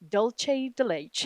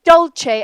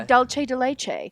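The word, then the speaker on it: dulce de leche: Dolce de leche. No! They say dolce as if it's Italian. Dolce. They say dolce de leche.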